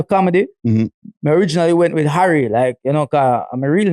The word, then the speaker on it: Harry: Because you actually said Harry. Yeah. And I've never heard a Jamaican pronounce with the H.